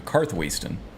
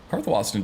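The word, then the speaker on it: Karthwasten: Serene over here or maybe we can take a carriage straight to karthwaiston or cartho Austin cartho Austin just sounds funny but I think that's technically how it's supposed to be pronounced strange Whispers huh okay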